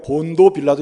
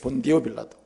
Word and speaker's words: 본디오 빌라도: 그러니까 우리가 본도 빌라도 이래도 되는데, 이 발음이 본디오 빌라도입니다. 본디오 빌라도.